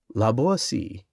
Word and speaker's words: La Boétie: La Boétie, footnote. The name of the author should be pronounced with the T sounding like S and rhyming with poesy, accented on the last syllable.